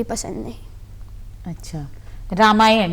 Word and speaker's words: रामायण: अच्छा, रामायण यही उच्चारण है ना रामायण का? जी। क्या कुछ आप बता रहे थे अभी कि? जी हाँ, जी। वो रामायण का है रामायण, रमा यानी कि सीता और यण, राम जी के लिए है